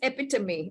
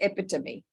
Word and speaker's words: epitome: Uh the word is epitomy. Okay, it's spelled as epi t o m e but is pronounced as epitomy.